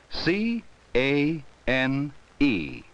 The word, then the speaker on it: cane: spell it with me c a n e cane it has a final e the vowel a comes before it the final e gives a its long sound and what is this